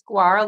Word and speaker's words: guar: I like me some guar gum in my coconut meal, but it's like guar. You said it's guar, like guarana. It must come from like guarana or something. But yeah, I was like guar gum and like something else.